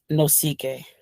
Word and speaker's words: Nosike: anthony how do you say your last name no ck no ck that's awesome he's from nigeria guys